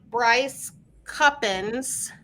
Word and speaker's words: Bryce Cuppins: 2025 Bryce Cuppins. I checked with Bryce. That is how you say her name.